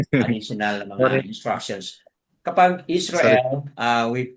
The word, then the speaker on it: Israel: Kapag Israel uh we we pronounce it in the Yahudi way Yasaral. Ah Yasaral.